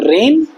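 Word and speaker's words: reign: तो, है ना, तो रेन, रेन्ड और रेन्ड, सेकंड और थर्ड फॉर्म। राज्य करना को भी कुछ ऐसे ही बोलते हैं, रीन बोलते हैं इसे, रीन, जी और एन साइलेंट हो जाते हैं, जी साइलेंट हो जाता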